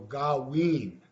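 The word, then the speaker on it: gaawiin: a double vowel system so in that word galween we see the double a and so that's pronounced ah and actually it should also be w i i n which would be the double i and that would be pronounced as e so gawin also when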